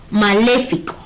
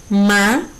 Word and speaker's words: maléfico: Si la separamos en sílabas sería ma-le-fi-co. Maléfico. ¿Sí? Nuestra sílaba tónica es le. Si contamos desde la derecha, co sería la última sílaba, fi la penúltima sílaba y le la antepenúltima sílaba. Y además, como es la sílaba acentuada o la sílaba tónica, significa que maléfico es una palabra esdrújula.